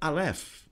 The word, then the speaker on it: aleph: so watch this now it is a silent letter and it's interesting because